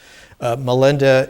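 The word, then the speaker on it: Milinda: we'll look at the questions of king melinda melinda is the poly pronunciation poly is an indo-european language very much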